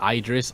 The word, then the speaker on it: Idris: It's Aegis, Idris, Ikilla.